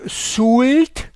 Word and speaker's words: Soult: Well, now we are on our way to the little village called Soult, but they pronounce it Soul, like someone who is drunk. He is Soul. Il est Soul. Well, Soult. I say Soult.